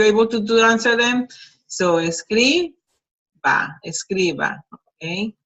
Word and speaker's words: escriba: Notice that the pronunciation changes from escribir, which shows the accent in the last syllable, and here it goes to second to last. Escriba, so it happens in all of that. The accent goes to the second to last syllable.